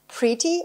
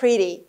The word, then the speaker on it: pretty: Pretty or pretty. Beautiful. Beautiful or beautiful. که ت در واقع در American English یکم شبیه د. دی که خیلی اون ته سقف دهانمونه در واقع pretty pretty beautiful beautiful تلفظ میشه خب pretty و beautiful